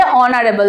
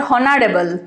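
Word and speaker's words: honorable: অনারেবল, এখানে যেহেতু স্পেলিংটা এইচ দিয়ে শুরু হয়, কিন্তু শুরু হলেও আমাদের উচ্চারণটা হবে অনারেবল, নট হনারেবল। হনারেবল নয় কিন্তু অনারেবল।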